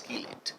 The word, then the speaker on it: chelate: Some people call it chelate. No, you're not making a besan ka chila or something. It's not chelate, it's chelate. The correct pronunciation is chelate.